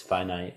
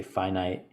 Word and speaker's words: finite: a limited time on earth our time is finite you know that word f-i-n-i-t finite is the